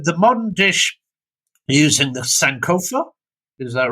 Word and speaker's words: Sankofa: And I don't know, the modern dish using the Sankofa, is that right?